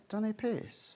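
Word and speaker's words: Dunipace: Dunny Pace.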